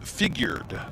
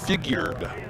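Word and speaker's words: Figued: If you're wondering about that name, by the way, for the Bellingham Bells, it is Figured. Fi G u E D. Figured kind of figured.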